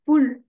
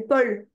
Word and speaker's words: Paul: C'est pas poule, c'est Paul.